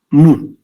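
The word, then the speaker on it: μ: La media aritmética, cuyo símbolo es la M, que se pronuncia mu. Es la letra M mayúscula del alfabeto griego.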